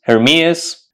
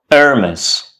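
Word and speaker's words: Hermès: pronounce this word Hermes hermas it's neither Hermes nor hermas it's Hermes hermis heris heris so the next time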